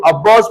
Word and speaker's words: Aufbau: यहां पर अब्बाउस प्रिंसिपल का मतलब बहुत सारे बच्चे साइंटिस्ट नेम समझ लेते हैं, क्योंकि प्रोनाउंस होता है अब्बाउस, जो प्रोनाउंस जो होता है ना वो लगता है कि साइंटिस्ट का नाम है, लेकिन ये साइंटिस्ट का नाम नहीं है।